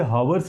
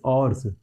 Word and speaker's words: hours: ठीक है, तो इसे हावर्स नहीं बोलेंगे, आवर्स बोलेंगे, OURS आवर्स, लेकिन लिखते वक्त H लिखते हैं, H साइलेंट होता है यहाँ पर।